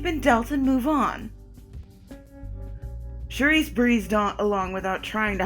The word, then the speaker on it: Saoirse: Charisse, okay. Okay. Well, let me start by saying my name. Charisse. S-A-O-R-I-S-E. Charisse.